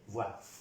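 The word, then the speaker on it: voient: Quiero también recalcarles que todos estos verbos que terminan por ENT, en esta persona del plural, esta ENT nunca se pronuncia.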